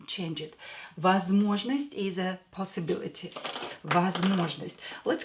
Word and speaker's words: возможность: So this one is not stressed, this one is not stressed, so pronounce them as A. Возможность. Возможность. Or when O is stressed, pronounce it as O. Do not change it. Возможность is a possibility.